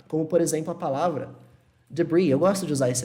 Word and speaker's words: debris: Aqueles detritos da explosão, isso em inglês é chamado debris. E olha que interessante. Tem um S aqui, mas esse S não é pronunciado, é como se fosse assim. Debris.